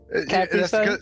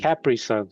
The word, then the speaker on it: Capri Sun: Capri Sun? That's because you're in Atlanta, dude. Capri Sun? Capri Sun. Capri Sun. Capri Sun. Capri. Change your I to an E. Capri Sun.